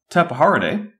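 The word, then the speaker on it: Tapejara: its body put together tap horaday spelled with a J and not an H our group of pterodactyl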